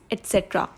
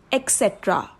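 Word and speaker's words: et cetera: So basically लोग इसे ज़्यादातर रॉन्ग वे में प्रोनाउंस करते हैं. एक्स का साउंड यूज़ करते हैं, लाइक एक्सेट्रा. बट एक्स का इसमें साउंड है ही नहीं. We don't need to यूज x sound. The correct pronunciation is एटसेट्रा. एटसेट्रा. एटसेट्रा.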